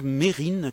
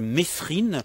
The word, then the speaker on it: Mesrine: les aventures de jacques mérine que les journalistes appelés comme par erreur jacques mesrine mais qui a un qui ne se prononcent pas dans son nom c'est mon cas aussi